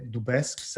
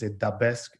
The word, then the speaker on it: Dubesque: but i like that in austria also people say do best in the uk and in the us because dubask and you can call